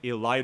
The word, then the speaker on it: elide: You can put 8 in there manually if you want, or you can elide it away.